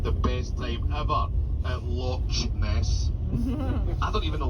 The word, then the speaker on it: loch: The word is loch. I don't want anybody coming up to me saying, oh John, that loch was beautiful.